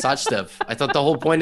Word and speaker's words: Sachdev: Literally, I've never seen a CH pronounce such. I didn't know I was supposed to say Sachdev.